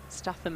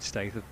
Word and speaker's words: Statham: The Brian's Statham end. Is that pronounced correctly?